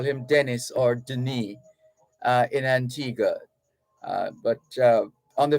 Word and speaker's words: Denis: His first name is spelled Denis, which means it's French. It's actually Denis, Denis, Denis.